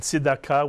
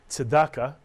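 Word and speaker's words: צדקה: Another Hebrew word we showed you before, we also showed it to you last week, Tzedakah Mitsuyan, and Tzedakah, which you'll hear often pronounced as Tzedakah.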